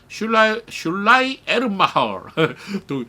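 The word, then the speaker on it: Schleiermacher: 슐라 에른마허 이게 독일어인데요. 슐라이 에른마허 그렇게 발음. 슐라 에른마허 독일의 끝 발음이 그렇게 되죠.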